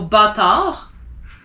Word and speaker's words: bâtard: So bâtard, you don't pronounce the D. You don't say bâtarde, you say bâtard.